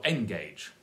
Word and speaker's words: engage: syllable there the important engage or engage engage sounds like something in a aeroplane or something a gauge to measure ends but engage stress on the second syllable and but I